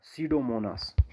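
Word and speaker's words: Pseudomonas: डीनाइट्रिफिकस एक बैक्टीरिया, दूसरा सीडोमोनास। बेटा देखो यहाँ पर पी जो है, ये पी पढ़ना नहीं होता, ठीक है ना, बहुत सारे बच्चों को पता ना हो, पी साइलेंट रहता है, सीडोमोनास।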